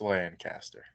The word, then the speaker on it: Lancaster: something close to that no it's a lancaster uh everybody wants to pronounce it this way try and get one over on everybody but it's lancaster lancaster wild then i'm i'm